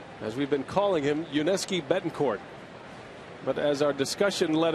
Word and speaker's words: Yuniesky Betancourt: It is Yuniesky Betancourt. Without a T at the end.